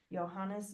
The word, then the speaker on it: Johannes: Gutenberg I have been saying it wrong johanes Johannes Gutenberg I think we said that part right